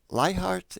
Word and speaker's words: Leichardt: have admired for a long time uh tom lie heart is that's the correct way to pronounce it yeah uh and the tom uh